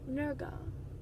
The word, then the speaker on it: Nurgle: heavily inspired by was Nurgle. The way they spell it is N-U-R-G-L-E, so kind of like gurgle, except Nurgle, which I can appreciate a good word pun.